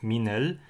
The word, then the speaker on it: MINIL: For example, the word minel is written like this in standard Garo, even though the sound in the first syllable is different from the sound in the second syllable.